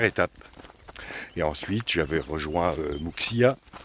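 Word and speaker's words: Muxía: Et ensuite, j'avais rejoint Muxia, ou Muxia, quand on prononce à la galicienne, en 2 étapes.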